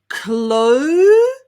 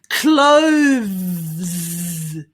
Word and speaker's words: clothes: the hard bit okay the th followed by the z sound chloe you try it amazing well done clothes clothes excellent so